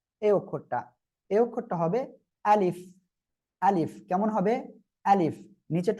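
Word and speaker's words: ألف: এই অক্ষরটা হবে আলিফ। আলিফ কেমন হবে? আলিফ, নিচের ঠোঁটের পেট উপরে দুই দাঁতের আগার সঙ্গে লাগিয়ে হালকা বাতাস বের করে উচ্চারণ করতে হবে।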